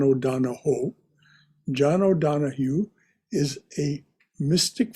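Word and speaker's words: O'Donohue: is from john o'donoghue actually he's irish so properly pronounced it's john o'donoho john o'donoghue is a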